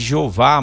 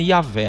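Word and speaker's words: Yahweh: nome yavé tá gente o brasileiro chama de Jeová mas não é assim o nome mesmo é yavé a pronúncia é essa no hebraico eh yavé pro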